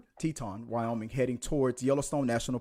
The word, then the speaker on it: Teton: On the 25th of August, last known to they were last known to be in Grand uh Titon Teton or if I said it right, Wyoming Teton Teton Wyoming heading towards Yellowstone National Park.